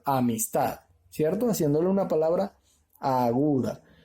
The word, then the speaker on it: amistad: Si la divido en sílabas, puedo decir amistad. No suena correcto, ¿verdad? O amistad. No suena correcto. Entonces suena correcto amistad, ¿cierto?